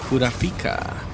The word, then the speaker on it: Kurapika: I don't make I don't make up the rules or the pronunciations. Kurapika, the out the way.